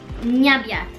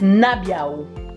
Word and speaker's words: nabiał: Nyabiat. Nyabiat. The end is L, remember? Look at the T, which you call it T. But it's a crooked line. So it's L. So it's nabiał.